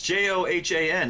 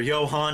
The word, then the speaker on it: Johan: Johan yeah no I I thought they pronounced it Jonah but it's j-o-h-a-n is that not Johan it's I guess it is but they pronounced it Jonah you heard it with